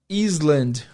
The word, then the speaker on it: island: n d muitas pessoas esperam ouvir a palavra island' o a palavra Island Island porque tem o